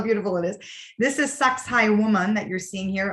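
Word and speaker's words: Sacsayhuamán: it is this is sucks High woman that you're seeing here otherwise pronounced as sexy woman people say that but sex high woman and if you see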